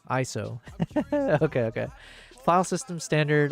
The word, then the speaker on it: ISO: It's pronounced ISO. ISO.